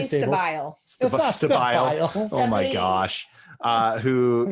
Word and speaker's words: Stabile: kron and suzanne um i'm going to say your last name wrong stay but stable oh definitely stabile oh my gosh uh